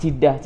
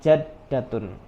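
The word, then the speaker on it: جدة: Kalau di Arab itu biasanya kalau manggil nenek jidah seperti itu. Tapi secara kaidah yang benar, pengucapan nenek itu adalah jaddatun, seperti itu.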